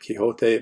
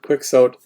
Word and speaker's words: Quixote: down quick sowed and I know you may be thinking we should be pronouncing it Quixote but in English departments we pronounce it quick so the argument being that will never get the Spanish sound properly so they just anglicized it that way but you know Don